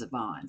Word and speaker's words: Zevon: We heard some of this guy, Warren Zevon, the other night. I think that's how you pronounce it. Or I think Mary Jo told me that the other day at work, that it's Zevon, so I believe that's right.